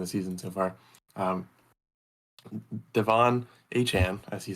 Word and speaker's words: Achane: Devon Achane, as he said that he would like his name to be pronounced, he's vocalized that in a meeting after